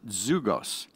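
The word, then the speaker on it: ζυγός: The Greek word for yoke is pronounced zugos, meaning coupling.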